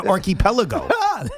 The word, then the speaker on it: archipelago: How about an archipelago? Archipelago. Archipelago. That's like a lot. That's good. He's an archipelago. No, it's not an archie. It's archipelago. Archipelago. Archipelago. He's just emphasizing the wrong syllable.